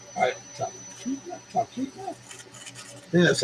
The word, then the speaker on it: Talkeetna: Just right outside of Tal, Talkeetna. Talkeetna?